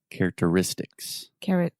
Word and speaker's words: characteristics: character character characteristic characteristic characteristics characteristics there we go characteristics perfect perfect so the stress is on the pent ultimate syllable the next to last syllable and it's actually a double stress characteristics characteristics characteristics perfect